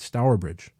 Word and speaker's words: Stourbridge: how you pronounce it so I think I'm pronouncing it right stourbridge England Dave thanks for writing in yes if